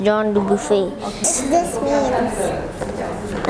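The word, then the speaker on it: Jean Dubuffet: It says Jean Duffet but it's actually pronounced John du buffet.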